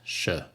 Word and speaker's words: sure: of comparison sure sure so the S here is pronounced sure sure like surely then the verb as